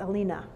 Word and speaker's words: Aline: Her name was Regina Christina Wilhelmine, but she was called Aline. Or as the Germans would talk about her when we were over there, they pronounced it Alina.